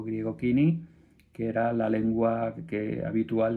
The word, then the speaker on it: koiné: la Septuaginta, en griego koiné, kini creo que le dice, que es la pronunciación correcta, ahora lo veremos en